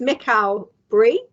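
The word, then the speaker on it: Michael Brie: and uh sorry I I pronounced it wrongly so it's Mikhail Brie yep he he would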